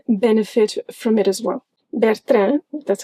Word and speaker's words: Bertrand: Bertrand, that's how we pronounce it, is a bookstore here in Portugal, and on their website you can find audiobooks.